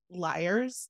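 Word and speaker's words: Lyre's: couple of Brands one I think it's pronounced Liars but three layers that's l-y-r-e we'll put a link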